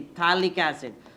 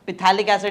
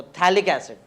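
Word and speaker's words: Phthalic: कार्बोसिंथ दोदो कार्बोसिंथ acid PT एच ए एल आई सी थैलिक्स इड पी silent है पी थैलिक्स इड नहीं बोलते उसको थैलिक्स इड थैलिडोमाइड है और यहां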